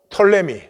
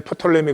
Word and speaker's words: 프톨레미: 가 4개로 갈라져 가지고 톨레미 에 우리는 프톨레미 그런데 푸는 묵음 위해서 톨레미 왕조 안에 신문지를 했어요